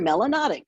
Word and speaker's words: melanotic: If you have a lot of melanin in your skin, you're melanotic, which rhymes with exotic.